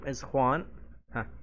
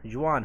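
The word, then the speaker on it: Juan: ز طيب قبل نكمل كلمه جوان هنا في الاسباني الج ينطق خ تمام في اللغه الاسبانيه حرف ال خ يعني هنا الاسم ايش خوان تمام لو بحثت بحثت بحثت وكتبت الكلمه دي جوان مثلا كتبتها في القاموس وحولتها لاسباني ونطقت الصوت بينطقها لك خوان تمام واضح عشان يقوللي احد ليش نطقتها بهذه الطريقه في اللغه الاسبانيه في خا اللي هو حرف الجي ينطق خا طيب نكمل الان هي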